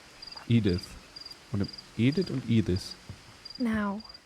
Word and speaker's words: Edith: Meine Mutter heißt so und im Deutsch spricht man es Edith aus. Edith.